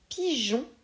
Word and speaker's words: pigeons: le g et enfin le jeu de pigeons qui s'écrit avec un g et 1 je précise qu'on n'entend pas le e prends le temps de